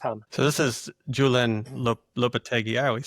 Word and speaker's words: Lopetegui: So this is Julian Lopetegui. I always say his name wrong.